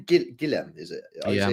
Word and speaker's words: Guillem: Guillem, is it? Yeah, Guillem Balaguer.